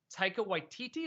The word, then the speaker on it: Taika Waititi: It already looked interesting, but then I didn't know it was Taika Waititi.